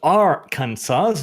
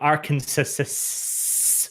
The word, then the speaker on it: Aransas: then William iceb Dev it's pronounced Aransas not Aransas finish your live stream